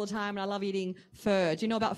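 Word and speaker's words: phở: there all the time and I love eating fur do you know about fur p-h-o we're my Vietnamese friends how do you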